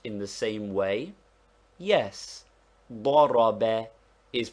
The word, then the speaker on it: ضرب: ضاد, that is, that the fatha is sounded like a short O, though we write it A, and thus ضرب is pronounced like ضرب.